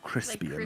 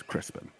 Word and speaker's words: Crispin: spelled c-r-i-s-p-i-n Crispin or Crispian or something bacon well Crispin or crispy and some people pronounce it but there's no a so but it's Crispin kelnar looks at Kamali